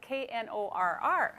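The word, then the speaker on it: Knorr: I want to put the K in there because it's spelled K-N-O-R-R.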